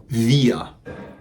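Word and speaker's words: wir: bien luego tenemos el pronombre via via via ya que que se pronuncia casi como esa no es la vía del tren no la vía vía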